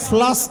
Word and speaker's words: ফ্লাস্ক: ফ্লাস্ক কি কি নিছে ফ্লাস্ক ফ্লাক্স না কি শব্দ আমাদের প্রচলিত অনেক ভুল আছে এই একটা এগুলারে খুইজ্জা খুইজ্জা বাইর করি আমরা উচ্চারণে ভুল প্রচলিত ভুল প্রায় সবাই দেখবেন বলে ফ্লাক্স শব্দ কি ফ্লাস্ক কারেন্টে কি করে ধরে